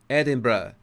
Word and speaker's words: Edinburgh: Sorry, I sometimes forget my Scottish pronunciation. Edinburgh.